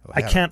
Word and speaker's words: Ojer: But Ojer, see, even that, Ojer. I rolled it like 2 or 3 times. Yeah. That's too much. Ojer. I can't flip an R very good, but that's what my